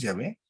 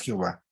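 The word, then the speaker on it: Yahvé: donde se comprueba creativamente la pronunciación adecuada es llave no es jehová y esto sólo lo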